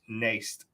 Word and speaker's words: Nijst: us a share uh please go follow Max Nace nij St it spelled like niched but it's pronounced naste I love y'all have a good hi everybody